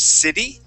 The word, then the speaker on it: city: Also, Jose, when you pronounce the word city, okay, great job at changing that T to a D sound.